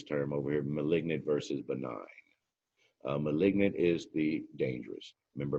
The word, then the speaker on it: benign: And benign is how that's pronounced, means not cancerous.